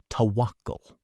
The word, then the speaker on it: tawakkul: Pronounced tawakkul.